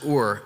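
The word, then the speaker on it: עוּר: That Hebrew word is ur. It's pronounced ur, and it means to stir up or incite, incite or rouse from sleep.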